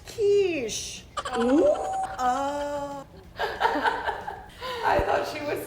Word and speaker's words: quiche: my stop don't wait oh my God it's pronounced quiche I thought she was saying she wanted a